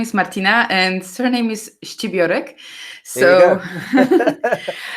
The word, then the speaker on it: Scibiorek: So my name is Martyna and surname is Scibiorek.